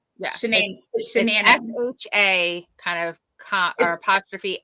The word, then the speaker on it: Shanann: Shanann.